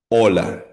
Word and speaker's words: hola: Ola. O. Sa Spanish po ang letter H or H silent po yan or mudo or mute.